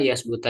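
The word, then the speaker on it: يثبت: Huwa bifati awalihi, memfatahkan awalnya. Berarti ya kan? Wasukuni musalasa, mensukunkan huruf yang bertitik tiga, huruf sa, berarti yas. Wadomil muahada, mendomakan yang bertitik satu, itu ba ya, yasbu, gitu ya.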